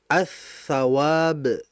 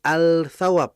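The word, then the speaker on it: الثواب: Kalau kita masukkan alif lam, ya lam mati, maka dibacanya as-thawab, bukan al-thawab, bukan.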